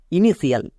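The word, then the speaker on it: initial: এ আই ই এবং আই ও যেমন ইনিশিয়াল ইনিশিয়াল এখানে দেখো টি আছে এবং টি এর পরে কি আছে টি এর পরে আই এ আছে টি এর পরে আই এ থাকার জন্য টি এর উচ্চারণ আর তো বা টো হবে না টি এর উচ্চারণ তাহলেই বসতে হবে তাই এখানে এটা হচ্ছে ইনিশিয়াল টি এর পরে যদি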